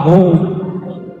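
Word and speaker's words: هو: Ya, hu bacanya hu jangan hua kecuali disambung.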